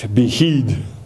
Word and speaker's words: Vixil: Asturiano dialect of Spanish would be spelled Vixil and pronounced Vigil.